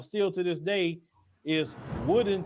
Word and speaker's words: Woden: Another town they're actually saying that is active sundown still to this day is Woodin, Texas. It's spelled Woden.